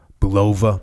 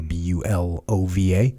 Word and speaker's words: Bulova: like the chairman of Belova Bulova how do you say Bulova watch company bul OVA you know over Bulova mmm he was the